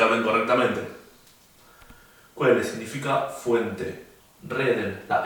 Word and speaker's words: reden: O sea, no decimos reden, sino decimos reden.